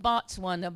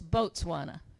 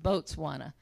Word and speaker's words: Botswana: it I called it Botswana but it's boatswana B it's spelled b-o-t but it's pronounced boatswana and it's not it